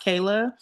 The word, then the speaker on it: Kyla: It's I should have said this beforehand, but it's technically pronounced Kayla. It's spelled like Kyla.